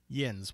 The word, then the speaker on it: yinz: yen's because in pittsburgh instead of y'all they say yinz y-i-n-z in case you're wondering how it's spelled so greetings to aliens